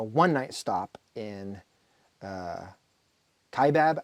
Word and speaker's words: Kaibab: stop in uh uh Kaibab I always forget how to say it's a k-bab so there's this highway